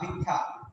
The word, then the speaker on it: ভিক্ষা: ক্ষুধা প্রশ্ন নাই ক্ষুধা কিন্তু যখন লিখছি ভিক্ষা, তখন লিখছি ভি আর ক, ভিক হর্ষচিহ্ন ক্ষয়কারে খা, ভিক্ষা। তাহলে ক ক হয়ে গেছে।